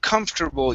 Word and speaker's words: comfortable: to uh the word comfortable you are very close here okay so remember this is going to be comf turbo so it's those two halves comfortable comfortable there you